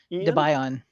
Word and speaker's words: Debian: Debian, because it's named after the main devs. All right. That's good to know, John. Thank you. Ian and his wife / partner, Deb Ian.